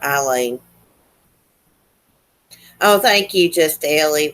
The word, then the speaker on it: Aileen: Sometimes I hear on documentaries Aileen, and sometimes I hear Eileen. I like to call her Eileen.